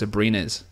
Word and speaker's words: Abrines: But even adding Alex Abrines, sorry, I've been corrected on that pronunciation, Alex Abrines. That just doesn't sound right. It just sounds too anglicized.